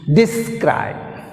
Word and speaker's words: describe: describe. Describe. Describe. Stress is on second syllable.